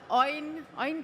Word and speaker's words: Eowyn: And also we have Eowyn, right? Is the right pronunciation? Eowyn Chen.